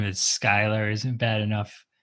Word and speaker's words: Schuyler: out of that sorry sch is like how you spell school so it's schuyler not skylar why you call it